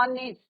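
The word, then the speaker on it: honest: बॉय, ही इज एन ऑनेस्ट बॉय। अब यहाँ पे क्या है बच्चों, एच is your silent, H silent है, प्रोनाउंसिएशन किसका हो रहा है ऑनेस्ट, तो यहाँ पे भी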